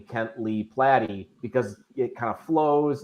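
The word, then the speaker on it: Platte: have known him for years and he always mispronounced my name a lot of people do it's platy and I started I started going with by my full name Kent Lee platty because it kind of flows and it Rhymes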